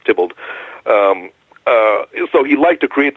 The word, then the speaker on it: Theobald: one of his pseudonyms looks like Theobald but it's pronounced Dippold so he liked to